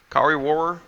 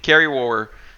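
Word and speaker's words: Kari Wuhrer: what's your name kakari kari warrer that's how you say her name carrie war um is like the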